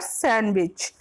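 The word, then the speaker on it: sandwich: सैंड नहीं बोलते हैं, सैंडविच।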